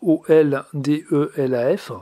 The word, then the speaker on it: Oldelaf: vous allez sur youtube vous tapez oldelaf donc aux ailes d elf comme ça se prononce et puis chanson la